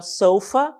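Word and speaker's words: sofa: existe algumas tá então soufa é a pronúncia as palavras língua inglesa tem uma tendência de serem eh paroxítonas também tá solfa né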